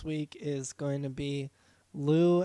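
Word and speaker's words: Lous: is going to be lou and the yakuza and that's l-o-u-s um and yakuza's spelled phonetically um this is a like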